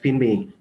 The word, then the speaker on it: Finme: So next up is, I'm sorry, I'm pronouncing it Finme, but I think it's not quite correct. You know who you are, I hope? Yes, it's pronounced Finme.